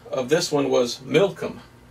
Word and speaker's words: Milcom: So they're giving other names of them, and the other name of this one was Milcom. Milcom. Almost sounds like Malcolm.